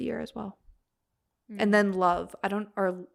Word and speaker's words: Lauv: I love it. They were one of my top artists of the year as well. And then Love, I think that's how you say it, Lauv, Love.